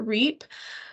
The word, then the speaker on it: REAP: called the rural energy for America program I pronounce it reap um and there's also a link to that